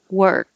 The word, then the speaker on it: work: is wer and then the back of the tongue goes up to stop the airflow for the k work if there's a vowel